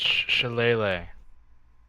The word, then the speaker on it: shillelagh: him with your sh Alaia charged weapon it's shillelagh show l shall Allah shall lay lay lay